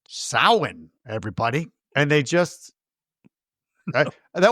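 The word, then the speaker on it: Samhain: And I'm like, "Nope, it's pronounced sin, everybody." And they just That would have been awesome if he's like, I know it looks like it says Sam Hayne, but the Celtic pronunciation is sin.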